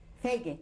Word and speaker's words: Feige: How do you spell that? R-O-S-E-N-B. S-E-R-G. Right. And your first name, was it always Fay? Yes. Feige.